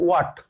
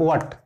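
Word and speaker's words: what: অনেক ক্ষেত্রে এটা কিন্তু হোয়াট হয় না, উচ্চারণ হয় ওয়াট, উচ্চারণটা হয় যেমন বিদ্যুতের ইউনিট মাপি ওয়াট হিসেবে, তো ওয়াট, যেমন আমরা বলি হয়ার,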